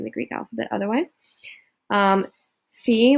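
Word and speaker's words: φ: greek alphabet otherwise um fee which is a ph or f sound they use the letter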